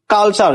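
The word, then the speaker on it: culture: এখানে টির উচ্চারণ কি হইছে? চু হইছে অর্থ হচ্ছে শতাব্দী সি ইউ এল টি ইউ আরই কালচার সিল কাল টি ইউ আরই চার কালচার অর্থ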